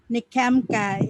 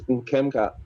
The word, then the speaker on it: Nkemka: NKEMKI. Is that correct pronunciation? I'm sorry. Anyway, No, it's Nkemka.